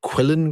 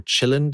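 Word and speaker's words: Qilin: But recently we've had the so-called Quillin group, or Chillin, depending on how you pronounce Q in Russian, brackets, I have no idea, close brackets, who have been in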